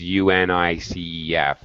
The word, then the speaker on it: UNICEF: right unicef yes um no one but no one says u-n-i-c-e-f no one does that everyone pronounces it so yeah unicef uh yes